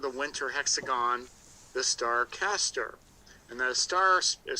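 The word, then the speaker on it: Castor: uh part of the winter hexagon the star caster and the is spelled by the way c-a-s-t-o-r caster and it's paired with another star called pollux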